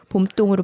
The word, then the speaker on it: 봄동: 어쨌든 정확한 발음은 봄동이 아니라 음 봄동. 음. 그니까 약간 두 개의 명사가 만나 가지고 아침밥, 밤길 이런 식으로 발음을 하는 구조로 사이시옷이 생략됐다고 봐서 봄똥으로 발음하는게 맞다고 하더라고요.